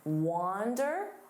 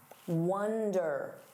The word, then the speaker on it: wander: Now, notice that pronunciation, wander. Don't confuse this with wonder.